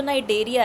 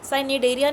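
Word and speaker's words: Cnidaria: जो नाइडेरिया है सनेरिया नहीं बोलते इसको सीसा साइलेंट होता है।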